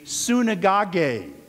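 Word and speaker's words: συναγωγή: this greek word the word synagogue the greek pronunciation would be sunegage what was the synagogue the synagogue was essentially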